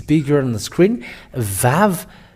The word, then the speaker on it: Vav: Vav. It is pronounced as V.